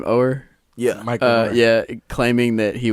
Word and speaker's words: Oher: Oher?